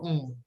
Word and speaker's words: ans: You don't have to pronounce the S. N will be the nasal sound.